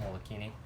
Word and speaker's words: Molokini: any of you have ever snorkel down in Molokini it's really really cool you have to actually take a boat out there but it's a really it's a small little crater and it's pronounced Molokini off to the side we'll just come up